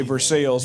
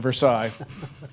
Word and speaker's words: Versailles: I thought we said The same way we say Versailles rather than Versailles.